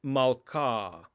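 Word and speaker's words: מלכה: the vowel ah ah the hay is not pronounced in this case like in the word malka malka i put an h in in the transliteration you can see that right here but the h is not really pronounced it's malka without an h sound occasionally in the hebrew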